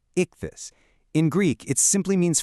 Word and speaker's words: ichthys: One of the most profound is the word ichthys, pronounced ichthys.